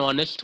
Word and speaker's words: honest: That is व्हाई वी से ही इज एन ऑनेस्ट man. Correct. N लगता है because ऑनेस्ट में एच जो है वो साइलेंट है.